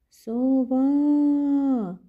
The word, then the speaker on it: сова: а тепер покличемо сову сова де ми наголошуємо який склад Перший чи другий со або ва вірно ми наголошуємо другий склад Ось так і позначаємо